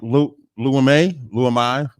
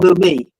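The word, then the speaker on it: Leumi: That's the original name of the bank Lu Lui if I'm saying it wrong. Lumi. Yep, I appreciate that. That's two. Uh, Lumi, um, the original name was Jewish Colonial Trust.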